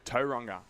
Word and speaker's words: Tauranga: Tauranga.